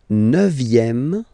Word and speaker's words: neuvième: Le neuvième, neuvième, so it's V here, remember, vième, la neuvième.